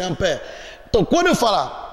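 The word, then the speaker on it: ampère: Escreve-se ampere, mas a pronúncia é em francês, é ampere.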